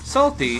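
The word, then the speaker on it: Psalty: Salty, spelled P-S-A-L-T-Y, with a silent P at the beginning like the Book of Psalms, is a creepy purple book.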